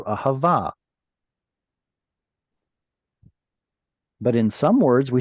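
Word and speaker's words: אהבה: This should have been originally ahava, but we were lazy and we didn't pronounce the T at the end. So it turned into ahava.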